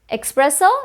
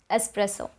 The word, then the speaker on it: espresso: this one's for you expresso no espresso espresso there's no x in the spelling espresso espresso we are